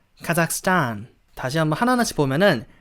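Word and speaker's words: Kazakhstan: 단 타 아삭 가자구요 h 가 묵은 맞습니다 h 신경쓸 필요없고 카 사기라고 카 상이라고 한번 해주고 쌓아 안 스타라고 해서 뒷부분의 강세를 좋아요 뒷부분 아시겠죠 카작 숫자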